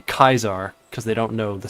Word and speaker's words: Caesar: You pronounce Kaisar is Kaisar in traditional Latin, not Caesar.